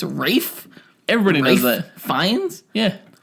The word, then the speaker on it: Ralph: It's not Ralph Fiennes or Ray Fiennes. Man. It's Rafe?